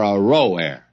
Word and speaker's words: Aroer: Now, I probably ought to go back and give you another pronunciation of that. The cities of Aroer are forsaken. And let's settle for Aroer.